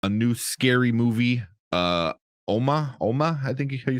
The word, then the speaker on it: Umma: new scary movie uh oma oma i think you said it i kept saying uma but it's i think it's pronounced like oma because it's like korean um because i sandra oh